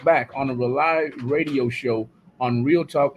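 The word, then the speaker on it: RAULI: From 8:30 to 10:30 is the Rely Radio Show on Real Talk 100 Radio. It's spelled Rely on purpose, R-A-U-L-I. It stands for Rebooting and Uniting Lost Energies, everybody.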